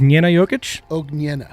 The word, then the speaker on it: Jokic: everyone's healthy great news apparently you nailed the pronunciation did i yeah say it again jokic tried tried my hardest uh shout out to